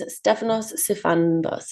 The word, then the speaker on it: Stefanos Sifandos: And this person's name is Stefanos Sifandos. Is that how I've pronounced it correctly?